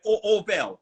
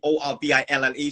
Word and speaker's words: Orvel: My name's spelled Orvel, but people think Orville.